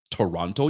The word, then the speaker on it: Toronto: I beg your pardon Toronto you don't pronounce the teas in you only pronounce the first T in Toronto that's it you don't